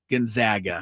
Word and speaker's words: Gonzaga: At Gonzaga, Kevin Sampson at Gonzaga. Thank you for getting what I was saying. Yeah, Kelvin Sampson, who loves to pronounce it the right way, Gonzaga.